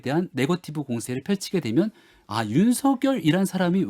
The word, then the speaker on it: 윤석열: 거듭 윤석열 후보에 대한 네거티브 공세를 펼치게 되면 윤석열이란 사람이 왜 정치를 해야만 하는가에 대한 당위성과 명분들을 거듭 계속 설명해 준다라고 생각합니다. 근데 지금 대변인님이 쭉 말씀하시는 거 들어보니까 국립국어원의 요청대로 윤석열로 발음을 하시는데 이게 좀 어려워요.